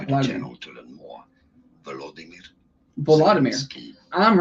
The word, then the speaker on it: Volodymyr: how to say more interesting names that many mispronounce. Vladimir. So make sure to stay tuned It's not to the Vladimir. channel to learn more. Volodymyr.